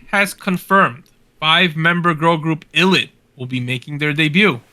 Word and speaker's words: ITZY: Also, they're pronounced ITZY.